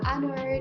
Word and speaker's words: honor: Contohnya kata-kata yang berawalan huruf H seperti kata honor dan our. Kata ini berawalan huruf H, akan tetapi jika diucapkan tidak terdengar jelas bunyi huruf H-nya, melainkan yang terdengar jelas adalah huruf A.